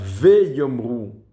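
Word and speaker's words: ויאמרו: Veyomru, le vav avec un shva. Bien sûr, un shva qui est prononcé puisqu'il est en début du mot.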